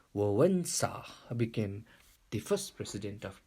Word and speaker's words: Wałęsa: In October 1990, Poland had first president election, and WALESA, this is a spelling but pronounced as Wałęsa, became the first president of Poland.